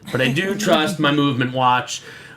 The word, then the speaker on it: MVMT: But I do trust my movement watch. Movement watches, pronounced very coolly, very few vowels used in that.